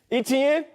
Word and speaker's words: Etienne: do you say his name travis etienne yeah etn big thighs big dog he got muscles on